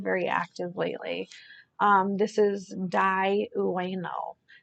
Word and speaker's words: Dai Ueno: This is Dai Ueno. Dai Ueno, it's spelled DAI_UENO.